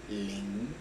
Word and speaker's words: 靈: La primera parte se pronuncia con el primer tono del chino, Qin, y la segunda parte con el segundo, Lin.